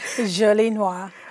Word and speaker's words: Jolie Noire: Jolie Noire.